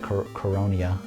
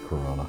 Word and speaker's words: Coronia: That was that coronia. I don't know how to say it properly. Coronia, not Corona. No, it's Coronia.